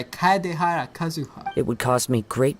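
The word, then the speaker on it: Kaedehara Kazuha: But also, day one, I get hit on by Kaida Kazuhara. I cannot say his name. Kaidehara. I just said Kaida Kazuhara. Wait. The first day, and I get hit on by Kaidehara Kazuha.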